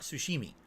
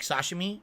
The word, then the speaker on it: sashimi: ] Tom Hanks man actual Sushi not sushimi like Sashimi or as I pronounced